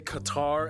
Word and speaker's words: Qatar: full disclosure it's actually fully acceptable to say Qatar as well because you know over time people kind of just messed up the pronunciation Just go with it